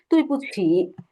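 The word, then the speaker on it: 对不起: এখন আপনি যে ভুল করলেন, আরেকজনের কাছে আপনি সরি চাইছেন বা তুই পুছি বলছেন, তখন সে কি বলবে?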